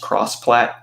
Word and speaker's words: XPlat: Like there was I think it's pronounced crossplat or xplat. XPlat, yeah. Yeah.